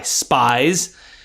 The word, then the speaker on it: Spies: Now, the name is spelled S-P-I-E-S. You can understand why he may not want to go by Spies. He pronounced it Spies.